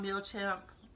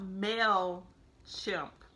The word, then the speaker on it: Mailchimp: not a thing about mil champ I keep on pronouncing it wrong the thing about mail chimp is that it's only